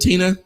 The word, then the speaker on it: Tina: Yeah, Tina, am I pronouncing that right? Is it Tina? Yes. Yes. Tina.